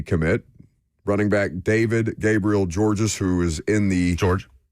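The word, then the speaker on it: Georges: There is a S at the end of George, but he's French Canadian. Yes, it's just pronounced George.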